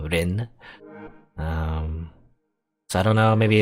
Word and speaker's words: Lynne: very similar I guess in Japanese L&R is like you know pronounced the same way so it's technically pronounced exactly the same Rin so I don't know